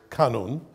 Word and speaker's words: kanun: We spell it K-A-N-O-N. So I try to, whenever possible, pronounce it kanun. Sometimes it slips and I just say kanun, which is okay as well, which would be K-A-N-U-N.